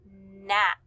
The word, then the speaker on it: gnat: Both of these words begin with the G N digraph, but remember that G is silent, so you just hear the N, Nash, gnat.